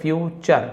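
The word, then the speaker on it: future: और अपने परिवार का अपॉस्टोफी एस का की के मतलब कॉमा का परिवार के फ्यूचर फ्यू और इसे चर पढ़ते मैंने बताया फ्यूचर टी यू आर क्यू चर फ्यूचर और अपने परिवार का भविष्य बदल सकते हैं।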